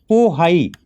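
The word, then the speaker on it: Bohai: और इसके बाद यह पोहाई की खाड़ी इंग्लिश में इसको बो लिखते हैं लेकिन उच्चारण प होता है तो पोहाई की खाड़ी तो येलो सी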